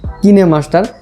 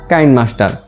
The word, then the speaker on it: Kinemaster: কোরিয়ানদের ভাষায় বা কোরিয়ানদের ল্যাঙ্গুয়েজে এটির উচ্চারণ করে থাকে কিনেমাস্টার, কিন্তু আমাদের এই উপমহাদেশে বা বেশিরভাগ ক্ষেত্রেই সবাই উচ্চারণ করে থাকে কাইনমাস্টার। তো এখন আপনারা কনফিউশনে পড়ে গেছেন মনে হয় যে এটার তাহলে উচ্চারণটা কি করব, কিনেমাস্টার করব না কাইনমাস্টার করব? আসলে দুটো উচ্চারণই ঠিক, কিনেমাস্টারটাও ঠিক, কাইনমাস্টারটাও ঠিক।